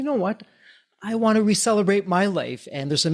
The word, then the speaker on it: ReCellebrate: As you were kind enough to mention, our brand name is Re-Celebrate because we are celebrating the renewal of your cells through these new ways. And that's spelled RECELLEBRATE.